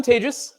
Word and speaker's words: Tejas: um so hi I'm Tejas um it's it's as I mentioned it's a pleasure to be here closing up the conference my name is pronounced like advantageous um whether or not I